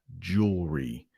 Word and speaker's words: jewelry: can review that has jewelry. And it's that R. I know that's very hard. So if you can say jewel, which might not be easy, jewelry. It's almost like 2.5 syllables, 2.5 word parts.